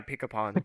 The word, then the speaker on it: Pikapun: Wait, how do you pronounce it? Pikapun? Yeah, pick upon.